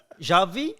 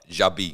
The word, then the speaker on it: Xabi: Xavi or Xabi? Xabi. But for ball, yeah, Xabi. You got to learn to pronounce your new manager's name. Xabi. Spelled with a V. Xabi.